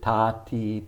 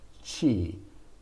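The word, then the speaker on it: ち: we could read it tati but the japanese never pronounce t i as t they always pronounce it as chi ta chi and so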